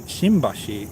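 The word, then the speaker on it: 新橋: But then there's also Shimbashi, which uses the same kanji, Shin, but in Shimbashi it's pronounced with an M.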